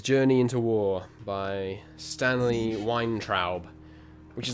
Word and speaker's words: Weintraub: Stanley Weintraub. That's wine as in Weinstein, and then T-R-A-U-B.